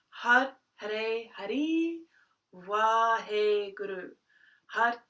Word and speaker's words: Har: And so Har, H-A-R, we pronounce the tip of the tongue on the R hits the roof of the mouth, so it sounds a bit like H-A-D, and we engage the